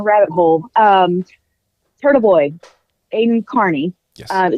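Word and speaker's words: Kearney: Um, Turtlevoid Aiden Carney. Yes. Spelled like it would be pronounced Kierney, but it's actually Carney, right?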